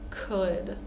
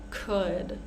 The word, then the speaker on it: could: here would should could so these three words the L is silent we're not going to say w w it's really hard to say with an L actually so we're going to pronounce it like uh with that uh sound would should could we